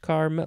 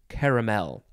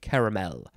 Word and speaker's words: caramel: at this other page carmel no there is no word in this book that is just c-a-r-m-e-l even though sometimes uh they might spell it that way it is caramel so in this household we say caramel uh this is a